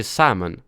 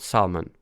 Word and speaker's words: salmon: The L is, so you just say salmon. Salmon. Salmon. Not salmon.